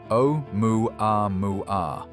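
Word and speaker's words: ʻOumuamua: Pronunciation o moo a mu meaning a messenger from afar arriving first or scout.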